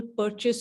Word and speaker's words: Purchas: And the books that, Tad will show you, there was this person called Samuel Purchas or Purkis. Purkis is how he pronounced.